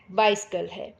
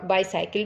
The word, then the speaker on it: bicycle: बाइसिकल है ना, और बाईसाइकिल भी बोल देते हैं और बाइसिकल भी बोल देते हैं इसको।